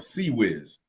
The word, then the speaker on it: CIWS: See, the Navy has a weapon called a Sea Whiz. It's spelled CIWS.